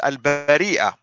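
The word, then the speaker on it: البريئة: In order for you to read it, al-bariya versus al-bari'a. That was very simple. I mean, without it, you won't be able to pronounce it correctly. And notice, when you pronounce it correctly, now you know the meaning of the word. Al-bari'a, innocent, al-bariya, creatures. Big difference.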